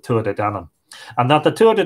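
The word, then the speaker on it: Tuatha Dé Danann: But we usually pronounce it Tua de Danann.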